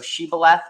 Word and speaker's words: shibboleth: The difference between the Hebrew word shin, which is now pronounced as shu, in the Hebrew, basically, so shibboleth or sibboleth.